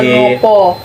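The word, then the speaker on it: kenapa: kenopo? Yo. Menopo. Oh, kenopo. Kenopo. Menopo. Kenayan. Ya, kenaya. Ya, kenayan. Kenaya, kenopo. Ini biasa kurang tahu ya saya nih tulisannya itu pakai apa, pakai O, tapi bacanya kenopo.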